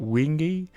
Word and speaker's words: Wenge: Now this wood is I call it Wenge, and it's spelled Wenge.